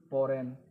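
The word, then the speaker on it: foreign: फॉरेन, इसमें भी क्या है, जी साइलेंट है।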